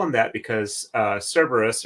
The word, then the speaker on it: Cerberus: them that because uh Cerberus or actually Cerberus in Greek because they don't have a soft C Sound um at least an